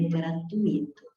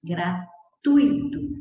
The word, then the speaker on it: gratuito: duas três quatro sílabas mas a pronúncia não é gratuito a pronúncia correta é gratuito O que lidar apenas três sílabas da palavra certo então